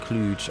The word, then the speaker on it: Cluj: Cluj is pronounced cluge.